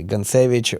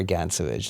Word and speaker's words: Gantsevich: Some people say it's a Dynamo, some people say Dynamo, just like my last name, either Gantsevich or Gantsevich.